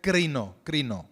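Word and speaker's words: κρίνω: And the word is krino. It's pronounced Y la krino. palabra se pronuncia crino.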